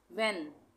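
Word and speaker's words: when: विच, विच में भी H silent हो गया। व्हेन, व्हेन में भी एच साइलेंट हो गया।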